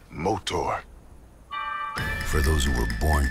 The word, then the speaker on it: Motaur: motor it's pronounced motor for those who were